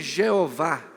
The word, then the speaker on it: Jeová: Jeová já é a maneira de unir as duas coisas, porque pega-se aquelas 4 consoantes do tetragrama e, usando os sinais vocálicos de Adonai, o resultado é Jeová. Ao invés de Javé ou Yahvé, fica Jeová ou Jeová, com o que seriam as vogais da palavra Adonai.